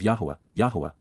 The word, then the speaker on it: Yahowah: And, to whom, Almai, has the Zeroah, strong arm, protective ram, and sacrificial lamb, Zeroah, of Yahowah, the proper pronunciation of the name of Eloah, God as